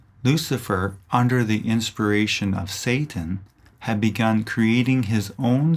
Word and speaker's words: Satan: The Hebrew word Satan, pronounced Satan, means opponent or adversary and refers to the chief opponent of Jaja and Elohim.